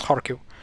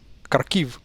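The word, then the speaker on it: Харків: So you see KH here also stands for H, and that's why it's read as Kharkiv.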